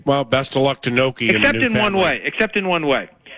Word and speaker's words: Gnocchi: Okay, well, best of luck to Noki. Except in one way. Gnocchi, that's the more proper Italian pronunciation Gnocchi of the name, has a habit of